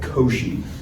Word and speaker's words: Cauchy: name in the inequality, it might not look how it's pronounced, but this is called Cauchy.